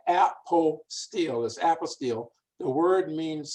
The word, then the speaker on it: apostille: we have trouble because we're used to having the word what apostle the apostle paul the apostle john so we that we tried to pronounce it in that same way but it is a an apple steel now when people are